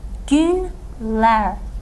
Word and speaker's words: günler: of the plural containing this suffix vowel "ler" "günler": days. And of course as we saw earlier if the final syllable of the word you want to make